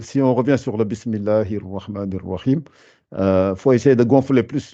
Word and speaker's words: بسم الله الرحمن الرحيم: Donc, ça fait Bismillahir Rahmanir Rahim. Essayez de prononcer ça en vous appliquant. Bismillahir Rahmanir Rahim. Voilà, c'est mieux, mais il faut se forcer à gonfler plus encore.